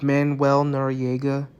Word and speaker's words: Manuel Noriega: Alright, number 21 is Manuel Noriega. That's how Google said to pronounce it.